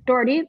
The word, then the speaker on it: Dougherty: told me last round how to pronounce it daughtery dot how do you pronounce your name jordy dougherty okay dougherty you did a really great job